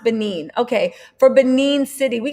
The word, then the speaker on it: Benin: really oh sorry ben benin oh hey miss in a bug what's going on girl benin beninine wait benin thank you for that it's pronounced benin okay for benin city